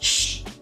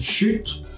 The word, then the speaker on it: chut: So he's pronouncing that, shh. Basically, we write it down like this, chut, and sometimes you can pronounce that T to emphasize a little.